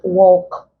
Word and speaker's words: walk: Walk. We have woof. Words like this, short O sound and then long vowel sound. L coming after them, it is not pronounced.